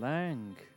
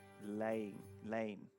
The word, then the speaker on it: Lang: Oh, Aaron Lang. but actually, apparently you don't pronounce his name Lang. You pronounce it Lane.